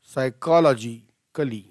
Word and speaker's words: psychologically: ॲज अ top player, how डिड she manage to just go टू a tournament and psychologically, so P is silent here, P चा उच्चार करायचा नाही, P is silent, psychologically म्हणा, दोन वेळा सगळ्यांनी